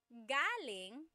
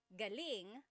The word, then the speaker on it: galing: So galing, the emphasis is on the first syllable. That means coming from. David Jr. on Instagram just asked the same question too. Galing means good or great. So if the emphasis is on the second syllable, galing, that means good or great or excellent.